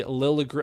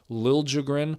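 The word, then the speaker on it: Liljegren: It deflects off of old friend Timothy Lilligr or sorry, Liiligrin. And in I I hate that he changed like corrected people on the pronunciation of his name.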